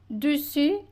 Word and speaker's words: dessus: Et à la fin, on a dus, il faut bien prononcer u. À la fin, le s final, on prononce pas de su.